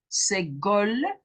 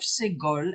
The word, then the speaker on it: segol: It is then called a chatef segol and pronounced as the e in a reduced red. It's red. It's not red, it's red. It's shorter. That is segol, and it is an e.